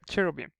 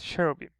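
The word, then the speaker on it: Cherubim: then Y and M however if you remember from the beta rule if it's a if it's a proper noun it could be pronounced as a b simply because it's a proper noun it's the name of the name of some um some angels CH cherro beam in this case cherro beam okay here we have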